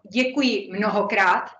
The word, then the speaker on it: děkuji mnohokrát: It's pronounced děkuji mnohokrát.